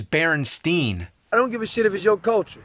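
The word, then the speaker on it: Berenstain: e not an a actually the most likely pronunciation would be baron Stein since it was spelled the same way like Frankenstein but everybody I ever met says Berenstein I don't give a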